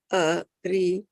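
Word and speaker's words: अरि: Arjuna uvāca kathaṁ bhīṣmam ahaṁ saṅkhye droṇaṁ cha madhusūdana iṣubhiḥ pratiyotsyāmi pūjārhāv ari. Can I just say ari? Pūjārhāv ari. But it is two. Huh? It is two. Ari. It's two syllables, yeah.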